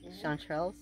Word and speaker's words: chanterelles: And those are chanterelles. Did I pronounce that right? Yes, chanterelles.